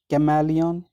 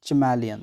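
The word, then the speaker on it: chameleon: Lizards में कैमेलियन या चमैलियन, दोनों प्रोनाउंसिएशंस ठीक हैं।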